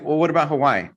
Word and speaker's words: Hawaii: like, well, what about Hawaii? I sometimes I don't want to give the energy to say like Hawaii, you got to pause.